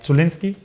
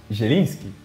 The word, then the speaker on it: Zieliński: Like Zulinski. Yeah, it's difficult out. He plays for Napoli. Zieliński. That's so. We always pronounce it like a stanza, but I know it's so difficult to pronounce.